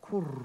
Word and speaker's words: Kur: I've got to say it like a dove. Kur.